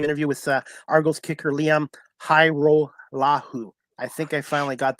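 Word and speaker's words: Hajrullahu: And finally, we'll wrap this up with my post-game interview with Argos kicker Liam Hairolahu.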